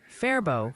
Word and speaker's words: Faribault: Oh, and the Minnesota Pronunciation Squad has an urgent update. It's apparently Faribault for Faribault now, and a very clear Freeborn for Freeborn.